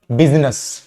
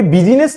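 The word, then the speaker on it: business: का प्रोनंसिएशन आपका आएगा बिजनेस में हम इसको कभी बिजीनेस नहीं पढ़ते बिजनेस पढ़ते बिजीनेस नहीं पढ़ते बिजनेस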